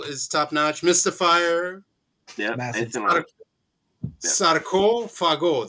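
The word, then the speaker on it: Sarcófago: Sarko Fago. That's how you pronounce it, people in YouTube land. Sarko Fago, not sarcophago. It's Sarko Fago.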